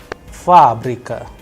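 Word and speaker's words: фабрика: you have fabrica there the stress is on first ah that is why it is under stress the sound of first ah is higher than the rest so it is being pronounced as fabrika which means factory all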